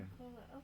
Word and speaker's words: Mercola: Mercola, okay.